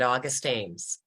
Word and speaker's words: August Ames: to is porn star M my life with August Ames did that pronounce that correctly Hillary yes you did August Ames and the author of course is Hillary and